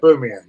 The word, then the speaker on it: Aubameyang: Yeah, Aubameyang.